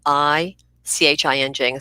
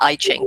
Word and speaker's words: I Ching: Well, all of Feng Shui is based on the I Ching, and that's spelled I-CHING. So, people often say the I Ching, but it's pronounced the I Ching.